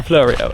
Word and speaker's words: Fleurieu: It's the Fleurieu, are you sure? Yeah. I am notoriously bad at mispronouncing words, so we probably started off at the worst location.